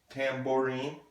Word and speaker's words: tambourine: it together guitar guitar a tambourine that's kind of a tough one Tamm or een tambourine tambourine and also my